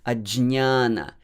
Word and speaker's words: ajñāna: So many Sanskritists, many scholars, pandits, they pronounce it fully, j and ny together. So you can also do that. It is actually the full-fledged version of this consonant combination. Ajñāna, jña. That is very soft n, ñ, ajñāna, ajñāna.